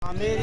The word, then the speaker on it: आमेर: आमेर या अंबर के नाम से यह जाना जाता है। ए एम बी आर यानी कि अंबर पर बी कैपिटल को साइलेंट किया हुआ है। आमिर इसे हम बोलते हैं।